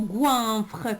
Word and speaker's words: goinfre: Ici, le mot goinfre contient combien de syllabes? Très bien, il contient deux syllabes. La première syllabe, c'est goin. Et la deuxième syllabe, c'est freux.